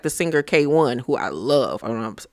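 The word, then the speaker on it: KWN: K1 is how you pronounce it, but she is fire.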